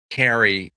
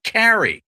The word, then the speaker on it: Cary: I know I pronounce it Carrie because I'm from Chicago originally. If I were from say New Jersey, I would say Carrie, but that's really hard for a Midwestern mouth.